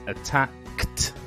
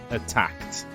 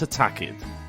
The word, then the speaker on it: attacked: the first example attack the pronunciation of the Ed would be a t that's attacked attacked not attacked attacked with stop similarly stopped